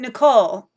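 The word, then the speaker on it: Nikol: do I pronounce it Nikki Nicole or I pronounce it Nicole yes okay um pronounce it Nicole I got it perfect what Rachel is talking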